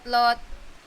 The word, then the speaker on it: Lot: journey is lot or it is lot or lot. Lot. That's how I pronounce my name.